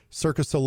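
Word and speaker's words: Cirque du Soleil: if I missed pronounce this Kindle is it circos solle you know the the performers the acrobat people it's like circus solle or something like that that's actually correct yeah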